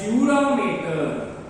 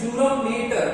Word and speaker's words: dura mater: layer is called as dura mater. देखो pronunciation में you can call it as matter also, but please do not write the spelling as matter.